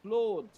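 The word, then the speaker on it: clothes: বিভিন্ন রকম ভাবে করেছো কিন্তু এর আসল যেটা পার্টিকুলার এর যে প্রোনাউন্সিয়েশন সেটা হবে ক্লোজ সি এল ও টি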